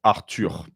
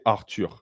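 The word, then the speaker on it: Arthur: in French is pronounced arur we don't we don't do the th thing we say arur okay excellent then we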